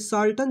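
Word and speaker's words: charlatan: तो देखिए ये साल्टन जो है ना, इसका देखिए इसका प्रोनाउंसिएशन जो है, इसमें आर साइलेंट है और सी एच को सौ पड़ा जाएगा, साल्टन झूठा कपटी या ढोंगी, ठीक है।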